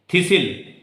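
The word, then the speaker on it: thistle: थिसिल, थिसिल में T silent है, इथ के इनिशियल आफ्टर पे किसकी साउंड है?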